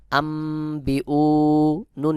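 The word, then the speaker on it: أنبئوني: হরফ বা চলে আসছে যখন নুন সাকিন বা তানবিনের পরে বা আসবে তখন উক্ত নুন সাকিন বা তানবিন কে ওয়াদ দিয়ে ছোট্ট মিম দ্বারা বদল করে পড়তে হবে যেমন সহি উচ্চারণ হবে আমবিউ নুন ইয়া জের নি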